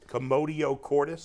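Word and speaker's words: commotio cordis: it's it's Contracting and it's in between beats commodio Cordis that's it you got it right I didn't even attempt to pronounce it because I was afraid I would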